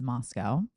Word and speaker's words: Moscow: In the quiet college town of Moscow, Idaho, which is spelled Moscow, but it's Moscow, which is right next to the border of Washington State.